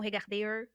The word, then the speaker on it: regard: com som de e o r também no final não é pronunciado então aqui ó HD não regard R no final de